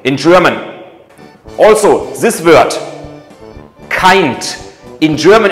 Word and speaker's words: Kind: Also, this word, kind. In German it's pronounced Kind.